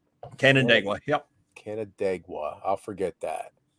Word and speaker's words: Canandaigua: It's like Canada Gugua. Oh, Canandaigua. Canandaigua. Yep. Canandaigua. I'll forget that. Yeah. Canandaigua. Yep. It took me forever, like Chautauqua. Oh, Chautauqua, yeah. But Canandaigua.